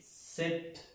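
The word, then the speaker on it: sept: Pronunciamos la T, 7, 7.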